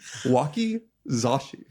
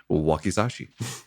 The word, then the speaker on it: wakizashi: Wakizashi. Wakizashi. Okay. That's definitely the So, pronunciation.